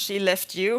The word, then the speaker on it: Skellefteå: I live in Sweden in a place called Skellefteå, pronounced she left you, which is, I think it's just funny.